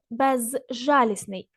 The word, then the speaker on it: безжалісний: наприклад безводний розбитий безжалісний а вимовляємо саме слово без безжалісний безжалісний ніби в нас з і не вимовляється префікс с вживаємо лише